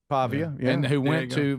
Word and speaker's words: Pavia: Pavia. Pavia.